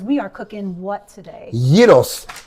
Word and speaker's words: gyros: are cooking what today Yos say it the right way don't say Gyros cuz that's how I know that's how a lot of people say it right that's ridiculous but that's how you say it's called yeos right it smell smells fantastic